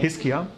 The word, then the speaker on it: Hiskia: Hiskia, okay.